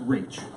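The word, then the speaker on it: Raich: You want to give me the facts, please, in Gonzalez versus, and it's pronounced Reach. Reach, right? TCH. Reach.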